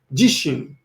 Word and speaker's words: 自身: So the first one is actually pronounced jishin, and that means myself.